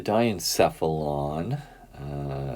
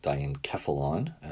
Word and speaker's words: diencephalon: and have motion occur the diencephalon sometimes called diencephalon you can pronounce either way it's deep underneath and